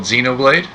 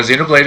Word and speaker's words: Xenoblade: You've been playing a game called Xenoblade. Xenoblade Chronicles 3. Now, that's Xenoblade spelled with an X. It is with an X, like Xenophilia's Lovegood. Yep.